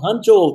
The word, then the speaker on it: Hangzhou: Hangzhou, tá vendo?